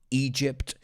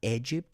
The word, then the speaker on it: Egypt: In ancient Greece, Rome, Egypt, careful with the pronunciation, it's not Egypt, it's Egypt.